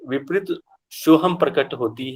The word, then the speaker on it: सोहम: ओम कैसे होता है, ओम को बीज मंत्र आ उ अम्मा, वैसे ही सोहम का बीज मंत्र क्या हो गया, स अह हम।